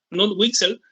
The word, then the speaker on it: Knut Wicksell: Tenemos después la escuela neoclásica, donde el principal representante fue Kuhn, o sea, la verdadera pronunciación es Knut Wicksell, que estuvo presentando importantes contribuciones al análisis del valor y de distribución.